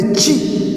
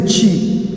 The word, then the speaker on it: chi: get it better the next one is the chi the chi the chi the chi we have what is known as the chi this one is the chi it appears like an x but the greek